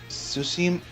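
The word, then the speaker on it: Tsushima: war the battle of susim i think the tea is silent like a tsunami hello in the destruction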